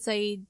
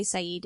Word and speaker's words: Sayid: The reason for this is that the phonetic sounds needed to properly say Sayid in Arabic don't exist in English. So on the show, people pronounce his name incorrectly, except in flashbacks, where people are actually speaking Arabic and they're saying it properly.